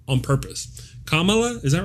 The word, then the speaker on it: Kamala: Kamala, is that right?